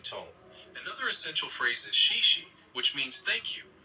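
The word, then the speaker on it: 谢谢: Another essential phrase is xie xie, which means thank you. It's pronounced kind of like she she.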